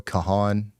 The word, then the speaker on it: Kahan: Noah Khan. Noah Kahan.